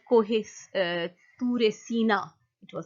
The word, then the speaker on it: Sinai: Not Sira, but it's called Kohe Ture Sina. It was called. Oh, Mount Sinai. Yes. That's what I said. Yeah, you said Sira, but that's fine. You're just kind of missing the exact pronunciation.